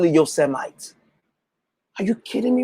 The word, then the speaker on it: Yosemite: don't who can't spell who can pronounce yosemite who call you send me your cell lights how i'm an immigrant bro i didn't grow up here and i know it's yosemite i would never call